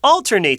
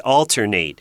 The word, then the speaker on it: alternate: as a verb and when it's a verb it's a long a sound at the end Alternate which is different than